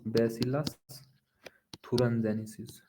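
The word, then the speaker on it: Bacillus thuringiensis: याद करो बेटा ब बेसिलस थरं जेनिसिस थर जेनिसिस हां बेटा अभी स्पेलिंग तो वहा से लिखवा दूंगा लेकिन बेसिलस थरें जनेस ही प्रोनाउंस होता है समझ पा र हो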